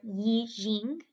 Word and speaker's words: Yijing: to china is in the eating or yi jing is how it's pronounced that also shows similarities